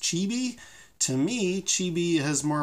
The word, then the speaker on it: Cibi: one from the 1970s it's spelled CI di I'm assuming that's pronounced chibi to me chibi has